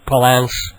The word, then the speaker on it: Palance: doing a song called Jack Palance, or Palance. He pronounces it Palance.